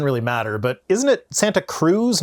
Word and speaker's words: Santa Cruz: The nearly intact fossil of a whale has been unearthed at a construction site in Santa Cruz County.